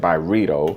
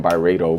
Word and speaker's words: Byredo: And that's right, I said Byredo because that's how it's pronounced. I didn't realize that. I've been saying Byredo for so long.